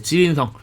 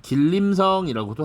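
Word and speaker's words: 吉林省: 김원봉이라는 인물, 만주의 지린성. 이게 중국식 발음이고요. 한자로는 길림성이라고도 합니다.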